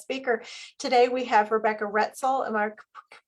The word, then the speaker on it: Roetzel: Today we have Rebecca Roetzel. Am I pronouncing that correctly?